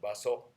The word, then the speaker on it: Baso: This is Master Matsu, or in Japanese pronunciation, Baso.